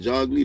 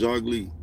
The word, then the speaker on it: Jogli: Jogli, that's how it sounds, Jogli. Like jog is J-O-G, right? Like jog and Lee is L-I, right? That's how it's pronounced. J-O-G-L-I, Jogli.